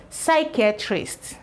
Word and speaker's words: psychiatrist: Now for this word, we're going to be having a silent P for what I'm about to spell. So we know psi to be the XY, but actually it has P. So we have psi. This is pronounced as psi.